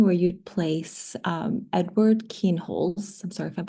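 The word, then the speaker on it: Kienholz: We've got a question from Gary Pearson and they are asking asking, "I'm wondering where you'd place um Edward Keenholes." I'm sorry if I'm pronouncing that wrong.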